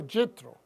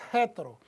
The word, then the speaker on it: Yitro: estaremos estudiando la porción yitro diga conmigo yitro oitro también lo pronuncia Qué es jetro pero esta porción es